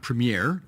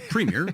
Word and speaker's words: premier: tell the folks at CNN that it's not premere it's Premier that's how you pronounce it up here uh number two did